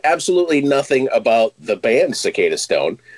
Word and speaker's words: Cicadastone: good man thanks for having me did i pronounce the band's name right cicada stone you did actually yeah it's it's it's funny